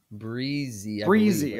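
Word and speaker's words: Bresee: The defensive tackle, Brian, is it Breezy? Is how you say it? Breezy. Okay.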